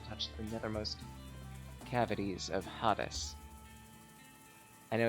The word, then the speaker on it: Hades: and built to touch the nethermost cavities of Hades. I know it's Hades. I wanted to mispronounce it.